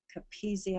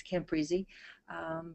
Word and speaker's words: Capizzi: Capizzi, I believe, who was doing this work and has been doing it for a long time. I mispronounced that as Camprizzi, but he is professing to get good results.